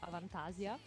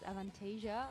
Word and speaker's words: Avantasia: I said Avantasia just by default but Okay. I would say in Italy we would normally pronounce Avantasia. Okay. But like I think that they're internationally known as Avantasia.